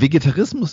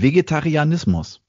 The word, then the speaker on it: Vegetarianismus: Vegetarismus? Nein, Entschuldigung, hier steht sogar Vegetarianismus. Ah. Ich habe das modernisiert und verkürzt hier versehentlich ausgesprochen. Vegetarismus? Nein, Vegetarianismus.